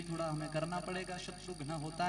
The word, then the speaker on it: शत्रुघ्न: हाँ, शत्रुघ्न नहीं, शत्रुघ्न, घ आधा है, शुद्ध उच्चारण करना है। असि शत्रुघ्न नहीं बुलाना तो फिर वो हीरो ही आना दूजा। देखो शब्द अगर हमने पुट्ठा सीधा बोल दिया तो उसका फल भी हमें वैसा ही मिलेगा, इसलिए उच्चारण अच्छा करना है। घ आधा है तो शत्रुघ्न क्या है?